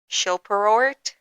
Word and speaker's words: Shilperort: Well, actually, they like to pronounce their last name Shilperort.